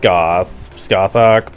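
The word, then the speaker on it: Scáthach: Achilles, you're going up against Skathak. I think it's supposed to be pronounced Skathak, but Skaith just sounds better and is easier to say anyway.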